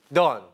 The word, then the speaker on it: dawn: Don. Don. 우리 돈. 네. 발음 똑같죠.